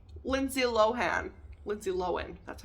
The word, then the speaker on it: Lohan: know who you look like Lindsay Lohan Lindsay loen that's how you say her name it's not lowan people I found that out couple years ago and I was blown away I've been saying low hand my whole life anyway or Ed Sheeran I'm